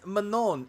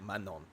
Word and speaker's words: Manon: It's like, or excuse me, triggered by that because it's like, it's Manon, and how you had to put in the definition, like the pronunciation is like Manon.